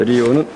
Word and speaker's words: Lyot: 그래서 이것도 또 리오는 LYOT인데 뒤에 T는 발음 안 하고 리오 스탑이라고 합니다.